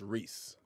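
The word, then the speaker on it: Rhys: rock the dwarf gimle oh it's pronounced Reese Reese okay my bad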